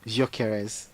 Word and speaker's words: Gyökeres: How do you pronounce that name? Gyökeres.